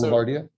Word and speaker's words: Boulevardia: So, Boulevardia.